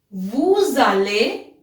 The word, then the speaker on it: vous allez: Vous allez, same. S we have to pronounce because the next word starts with a vowel.